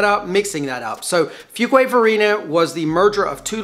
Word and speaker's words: Fuquay-Varina: And yes, it's pronounced FUQUAY-VARINA. We get a lot of people messing that up, mixing that up. So FUQUAY-VARINA was the merger of two little towns, FUQUAY and VARINA.